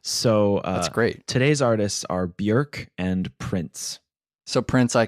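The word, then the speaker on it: Björk: rally behind me in saying that it's not pronounced Bjork oh really it's pronounced Bjork Wow my whole world has been turned upside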